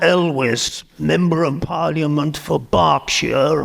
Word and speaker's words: Berkshire: And then there was John Elwes, Member of Parliament for Berkshire, which the Americans insist on pronouncing as Berkshire, because it's spelt that way.